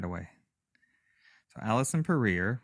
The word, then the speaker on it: Puryear: right away so Allison career rhymes with career and this is everything